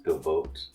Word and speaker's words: Gabolt: Well, or should I call you Gabolt? Gabolt. Am I pronouncing it correct? It's Gabolt. Yeah.